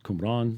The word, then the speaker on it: Qumran: It's Qumran, that's how you say it.